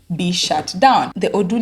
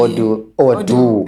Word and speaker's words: Odoo: Odoo. Odoo. That sounds like if it was O-D-U. Yeah, Odoo.